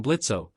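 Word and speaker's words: Blitzø: The O is silent now.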